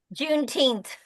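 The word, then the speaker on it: Juneteenth: June teenth June teenth and some of my uh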